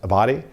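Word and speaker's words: Abbate: One of the deputies for former Director Wray, Paul, I believe his name is pronounced Abadi, he was the one that shared with us that, he has these anti-immigrant and anti-Semitic views.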